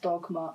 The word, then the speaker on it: Dogme: I think it's pronounced dogma in our language, but it's spelled dogma in Norwegian.